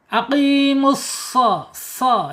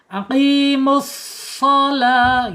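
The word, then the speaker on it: أقيموا الصلاة: Jangan aqimus so. Nah, itu pakai huruf sin, hanya dimonyongkan. Tetapi ini harus pakai huruf shad ya, tebal. Ya, udara mengalirnya agak sedikit terhambat karena lidahnya terangkat. Aqimus shalah gitu ya.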